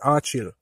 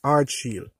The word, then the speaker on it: Ardsheal: the shield so um persons pronounce it as a chill but it's hardshield all right so we're